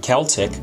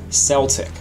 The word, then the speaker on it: Celtic: would have been pronounced the british way with a hard c as in celtic or the american way with a soft c as in celtic i would have been